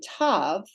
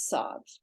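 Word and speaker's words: ת: And then tav, this is the way we learned it. Tav with the dageysh is a hard T, as in Thomas. Without the dageysh, it's a soft S, pronounced as sav.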